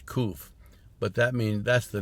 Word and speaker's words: Qof: the way it was spelled in one of them is k-o-o-o-f yeah just like roof you know roof cool and sometimes spell like k-u-s spell q-u-f but you know when you're trying to write a hebrew word or letter in english letter you just use letters that make it sound as much you can't like it yeah the word is koof but that means that's